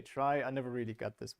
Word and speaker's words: trie: a little more sense the rumor has it that it comes from retrieval and so you should say tree but trees is already taken so we say try i never really got